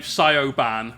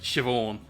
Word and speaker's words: Siobhan: Yes, the name Sioban, pronounced Siobhan.